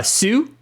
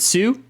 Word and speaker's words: Hsu: Smith and Dan uh Sue is it Sue it's Hsu but you don't pronounce the h I think I think